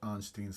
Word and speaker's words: Arnstein: Arnstein, it's spelled A-R-N-S-T-E-I-N-S. So Arnstein's ladder of engagement. It's probably pronounced Arnstein or something like that.